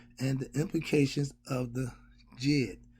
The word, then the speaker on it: Djed: Okay, the D, like the Django. People say the Django. No, it's just Django, but it's spelled with a D. I ain't trying to mock nobody, but yes, the D is silent.